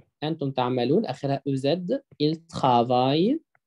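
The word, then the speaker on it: travaillent: إل ترافاي، آخرها أو إن تي، ما بتتنطقش.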